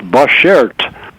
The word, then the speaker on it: bashert: The word is pronounced Bashert. It's a Yiddish word. So Bashert.